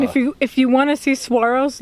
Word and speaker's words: Saguaro: We are signing off from Saguaro National Park, because saguaro is spelled S-W-A-R-O. Saguaro.